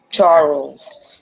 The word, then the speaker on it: Charles: Not Cha- Charles. Charles. One syllable. Charles.